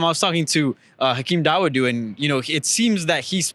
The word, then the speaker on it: Dawodu: Hakeem Dawodu, we know how to pronounce his last name. Yes, Hakeem Dawodu taking on Julio Arce.